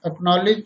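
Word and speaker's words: acknowledge: देखें seizures means कैंची, ascend means चढ़ाव, मसल मीन्स मांसपेशी, सीन मीन्स दृश्य, एक्वायर मीन्स प्राप्त करना, एक्नॉलेज मीन्स प्राप्ति सूचना।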